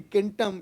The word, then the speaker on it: centum: 100 used to be kentam in Latin so in you know now we call it Centum in Latin but in in Original Latin pronunciation it used to be kentam and in Greek it